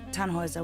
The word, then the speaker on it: Tannhauser: what's your name Tannhauser we pronounce it tan Wazza with an armload German